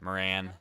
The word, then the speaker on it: Moran: that though all right Moren Moran sorry it's not pronounced more and like everyone thought it was I'm sure big